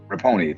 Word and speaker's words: Rapinoe: I think about Megan, is it pronounced Rapinoe? Megan Rapinoe. Rapinoe, thank you.